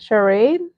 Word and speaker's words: Charade: Charade.